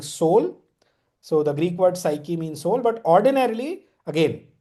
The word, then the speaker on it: psyche: to the Greek word psyche meaning soul I don't know whether psyche pronounce I mean normally in the way of pronunciation it should be pronounced as psych you know but you